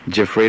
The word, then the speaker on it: Giuffrida: you so long Louisville Kentucky hello yes Mr ja am I pronouncing your name correctly jafr is correct and thank you ma'am all right